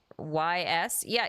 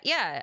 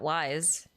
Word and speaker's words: Ys: I talking about Ys yeah yeah it's it's pronounced ye not pronounced Wise It's pronounced ye I'm not missing a